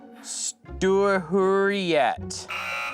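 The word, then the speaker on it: Storsjöodjuret: oh here we go this is how you pronounce it it's called The stur yet okay stur you're go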